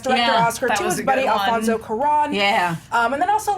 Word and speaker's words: Alfonso Cuarón: I did like that moment of Alfonso Cuarón and Homeboy, it was really good, especially when